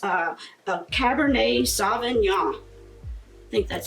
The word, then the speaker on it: Cabernet Sauvignon: It's another California brand, and it's a Cabernet Sauvignon. I think that's how you say it, Cabernet Sauvignon.